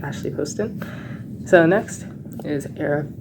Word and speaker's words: Poston: It's pronounced Poston.